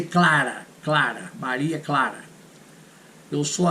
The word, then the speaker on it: Clara: You have Santa Clara in California. Clara. But we say Clara.